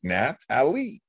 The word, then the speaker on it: Nathalie: there's an h f there is an h after the t it's a french way yeah nathalie no no no no ignore it it's a silent h i know i have to look twice i i have to look twice sometimes no no no i know her name is nat ali yes it's been messing